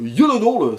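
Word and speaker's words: Gyllenhaal: If LER le regretter bien sûr et Jake Jellodol ou Yolod si vous voulez prononcer à la Suédoise dans les rôles féminins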